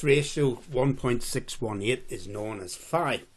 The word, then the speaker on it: phi: So this ratio, 1.618, is known as phi, P-H-I, pronounced phi, and it has this symbol, but it's also known as the golden ratio.